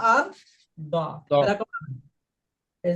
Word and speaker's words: ضاد: এই হরফটা যদি আপনি সঠিক উচ্চারণ করতে যান, তাহলে আপনার জিহ্বাকে এরকম ছোট করে নিয়ে হয় এই মাড়িতে লাগাবেন, না হলে এই মাড়িতে লাগাবেন, না হলে একদম দুটোর সাথে একবারে 2 মাড়িতে লাগাবেন।